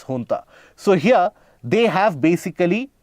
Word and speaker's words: junta: So here, the Myanmar junta, that is the military administration, it is not the Myanmar junta, it is pronounced as junta.